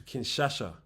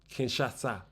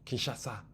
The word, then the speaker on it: Kinshasa: If we get the visa, we will then be heading to Kinshasha. Kinshasa. I've been saying it wrong. Kinshasa.